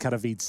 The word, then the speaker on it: Katowice: I think it's pronounced Katowice, guys, Yeah.